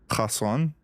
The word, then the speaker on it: Hasan: Hasan. No kha.